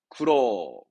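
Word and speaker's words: 苦労: 쿠로.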